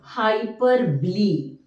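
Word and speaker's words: hyperbole: personification next comes to hyper ble actually the spelling is like hyperb but the way we pronounce is hyper B hyper B see hyperb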